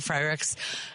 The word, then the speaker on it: Frerichs: us, by the way, we're talking with Michael Frerichs. Am I pronouncing your last name correctly? You are. Okay. Frerichs. Like Frerichs.